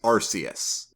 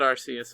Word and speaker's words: Arceus: It's because I have always pronounced the god Pokemon, I've always pronounced their name as Arceus. Mm-hmm. And so does Pikachu in this movie. Oh, nice. Yeah. I always said Arceus as well.